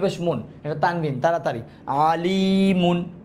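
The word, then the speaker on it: عَلِيمٌ: ইফটান, মিম দুই পেশ মুন, এটা তানবিন তাড়াতাড়ি, আলিমুন, কি হবে?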